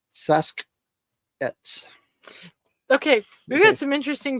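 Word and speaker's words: Sasq'ets: Saskets. Sounds Native American, doesn't it? Saskets. That's how it's pronounced, not Sasquatch. That's how some reporter said it. But the Pacific Northwest, in their Pacific Northwest languages, it's Saskets.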